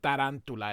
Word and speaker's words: Tarantula: My name is Tarantula. It's actually Tarantula. It's same spelled the same way in English and Spanish, but which is probably why they used it.